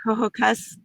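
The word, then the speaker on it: Ho-Ho-Kus: olson and she is from sophisticated hearing in pronounce it for me please hohocus new jersey um and she is a private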